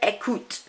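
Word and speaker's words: écoutent: Now, with the pronunciation here, the ENT, you don't actually pronounce. So it's il or elle écoute. You don't pronounce that ENT.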